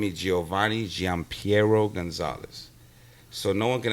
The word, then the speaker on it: Gian Piero: Ahmed Oriya but my dad name is Giovanni Gian Piero Gonzalez so no one can ever pronounce so mouthful mouth full you're like triple